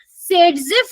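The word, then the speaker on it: Saytzeff: मोर substituted alkene इसको हम क्या बोलते हैं सेड जफ रूल बोलते हैं तो यानी कि ये आपका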